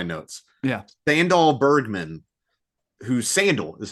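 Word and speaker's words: Sandahl: Sandal Bergman, who Sandal is how you say her name.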